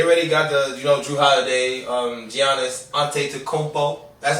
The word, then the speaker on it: Giannis Antetokounmpo: I like that for the Bucks because they already got the Drew Holiday, Giannis Antetokounmpo.